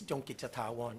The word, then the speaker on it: Chongkittavorn: If you don't want to be my enemy, you call me by my last name, and you're going to mispronounce it anyway. It's Chongkittavorn.